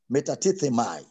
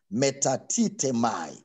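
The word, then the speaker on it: μετατίθημι: word removed was translated from the greek word metatatemai meta tita mai is spelled as m e t a t i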